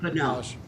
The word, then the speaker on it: Fano: Is that how you pronounce it now? Fano.